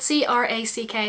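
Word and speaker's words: craic: And it's not spelled C R A C K. It's spelled C R A I C.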